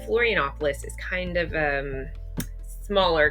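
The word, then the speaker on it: Florianópolis: that that'd be embarrassing so we flew to floron opoulos that night from Rio and flop FL Florianopolis I got to say it right Florianopolis is kind of um smaller compared to the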